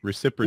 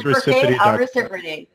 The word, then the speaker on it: ReciProty: ReciProty. Yes, you did. Well, so it is ReciProty.